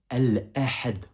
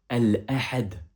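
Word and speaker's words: الأحد: Ici, en l'occurrence, le dimanche se prononce al-ahad en arabe. Répète après moi. Al-ahad.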